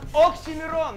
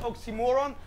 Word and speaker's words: Oxxxymiron: Oxxxymiron, not oxymoron.